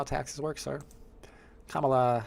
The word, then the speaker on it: Kamala: hope not come come on man with the pronunciations what's up C spill Kamala Kamala it's Kamala the Ugandan Giant I don't care what anybody